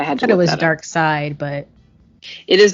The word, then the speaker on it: Darkseid: i also for many years thought that you pronounced dark side as dark seed but i had to go with this dark side but it is dark side but okay but it felt different right yeah